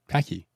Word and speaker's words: packy: Yeah, How is it actually pronounced, though? packy. A packy. Yeah. You got to go down to the packy. There's no R in it to begin with. It's just packy.